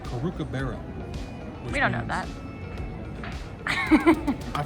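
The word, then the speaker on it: Caru' cu Bere: it's not pronounced cracker barrel but it's it's pronounced karuka baro we don't know that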